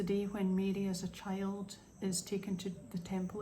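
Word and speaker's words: Twi: Sorry, it's spelled TB T I W I, but it's pronounced chi.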